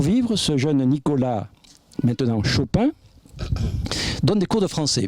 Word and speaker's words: Chopin: Chopin parce que Chapin est devenu Chopin. Parce que dans le patois de la Lorraine, le O de Chapin se prononce, le A de Chapin se prononce O.